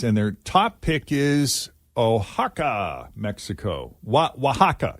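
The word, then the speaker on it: Oaxaca: best International cities and their top pick is ohaka Mexico wa wahaka it's pronounced Waka it's spelled o a x AA and according to the phonetic pronunciation here on this article it's pronounced wahaka Waka yeah two more cities in Mexico also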